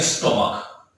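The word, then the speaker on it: stomach: कभी कभी CH किसका उच्चारण देता है? क का उच्चारण भी देता है। जैसे हमने एक वर्ड लिखा, हम लिखा स्टोमक। क्या लिखा हमने? स्टोमक। स्टोमक में क्या है? CH है और इसका उच्चारण क्या आ रहा है? इसका उच्चारण आ रहा है क।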